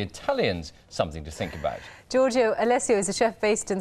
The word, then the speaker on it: Giorgio Alessio: To tell us more, Giorgio Alessio is here. Giorgio, good morning. Oh, good morning to you. Did I pronounce that correctly?